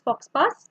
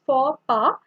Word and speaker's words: faux pas: So this is not pronounced as fox pass, but it's faux pas.